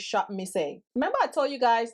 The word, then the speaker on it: Shopmissa: And girl, I was on Shop Miss A, and girl, the last time I said it wrong, it's Shop Miss A.